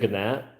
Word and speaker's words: gnat: What's a gnat? The G is silent.